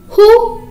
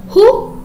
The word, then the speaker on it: who: stanza 3 line 2 who hides which sound her sound okay who hides okay dear children here w is silent okay yes then move